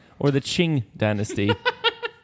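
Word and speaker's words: Qing: n sorry q q i n or the Ching Dynasty q i n g can I just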